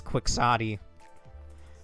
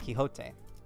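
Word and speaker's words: Quixote: Again, if I hear even one of you pronounce that as quicksotti, busting your shins, it's kiote.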